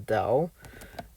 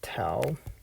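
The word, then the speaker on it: 道: Dharma, or in this case, it's pronounced as Dao, or sometimes it's Tao.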